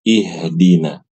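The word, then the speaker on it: اهدنا: Nah, Ibu-ibu rahimakumullah, mohon diperhatikan ketika membaca kata ihdina. Ihdina ini H-nya harus H besar. H besar berbeda dengan ha kecil. Ha ha ha. Ihdina bukan ihdina. Ihdina bukan ihdina. Ya seperti itu.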